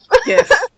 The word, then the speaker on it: GIF: It's going to give us a whole new set of gifts, isn't it? Yes. And yes, I pronounce it GIF. GIF. GIF is how it's pronounced. Yes. Screw what they say, it's GIF.